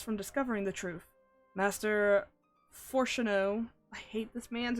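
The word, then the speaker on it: Fourchenault: discovering the truth master foreno I hate this man's name yeah foro is how you pronounce that by the way makes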